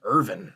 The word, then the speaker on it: Irving: bet he could too are you saying Irving or Irvin Irving yeah okay cool I thought I was hearing Irving and I was confused oh almost I was definitely saying it right the whole time now